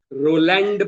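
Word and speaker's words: Roland: रोलैंड बार्थेस ऐसा लिखते हैं मगर प्रोनाउंसिएशन रोला बार्थ फ्रेंच में.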